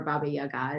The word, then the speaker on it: Baba Yaga: and i think of baba yaga as or baba yaga is the way it's supposed to be pronounced as the hermit and